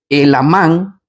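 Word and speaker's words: Helamán: el nombre de eh el amán con acento en la a empieza a contar acerca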